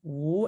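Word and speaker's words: 无: And then this character is pronounced wu, and it means none or without.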